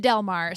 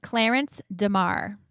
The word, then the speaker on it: Clarence DeMar: You kept calling him Delmare. So it's not that Delmare. I said it all wrong. So it's it's pronounce it correctly for me. Clarence Demar.